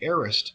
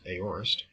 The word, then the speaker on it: aorist: other in the past the future and the aist tenses and please note that this is pronounced aist it is not pronounced aorist communicate or portray simple or undefined action in